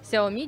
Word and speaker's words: Xiaomi: названиях да спасибо большое что кстати назвали правильно звание наш компаний оно произносится именно так xiaomi действительно мы здесь сегодня